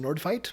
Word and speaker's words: Nordfeldt: Christopher Nordveit? I mean, I don't really have much to say. Swansea City. He's still kicking around. Who? Christopher Nordveit. Who's that? It's spelled Nordfeldt. But it's pronounced Nordveit.